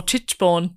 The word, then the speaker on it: Tichborne: I wonder if you said Tichborne or Tichborne. I almost definitely said whatever it is phonetically. Yeah, it's Titch.